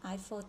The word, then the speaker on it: Eiffel: mà bạn mình đọc là các xe như đọc đúng là iPhone Towers Tháp Eiffel C1 đi 2h nhớ là